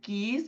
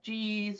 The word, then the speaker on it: Gies: of Illinois and then we are pronounced as geese College of Business um you know for when I talk with students students call us G's or g g gas